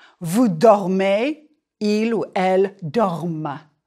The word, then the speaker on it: dorment: Nous dormons, vous dormez, il ou elle dorment. The ENT is silent, but it makes you pronounce the final consonant of the stem.